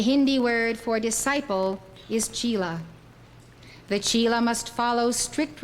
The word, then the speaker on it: chela: The word chela in Hindi is called chela. If you wish to use that correct pronunciation, you are welcome to. I first heard the word